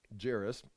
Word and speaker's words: Jairus: got the pronunciation uh Jer as in chair with us Charis Jairus Jairus I mean uh one